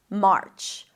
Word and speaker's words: March: Make sure you don't bring the tongue up for the R too quickly, because then it's going to sound like merch, which is a different word. March, March.